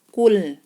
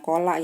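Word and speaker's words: قل: Kul, nah ini bacanya kul bukannya kola ya. Kalau kola kan ada qaf ditambah alif baru lamnya misah.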